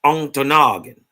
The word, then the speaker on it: Ontonagon: They dog don't say it right. It's Ontonagon.